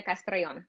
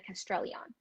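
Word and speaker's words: Castrellón: used to say and they said why do you say it with an accent why do you have to roll your r's why can't you say castrellian and i corrected them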